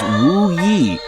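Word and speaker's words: Wuyu: In the dialect of Shaoxing, Wu Yu is pronounced as Wu Yi, almost the same as Wu Yi.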